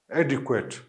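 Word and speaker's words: adequate: के डब्ल्यू, फिर श्व sound and then T, एडिक्वेट, ठीक है।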